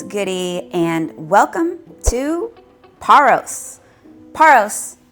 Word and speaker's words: Paros: what's goody and welcome to paros paros not peros do not say peros in paros it is pronounced paros we're at the airport now if you saw